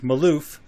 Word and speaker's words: Malouf: Today we're going to be interviewing Amy and Jake Malouf. Is that how you guys pronounce it?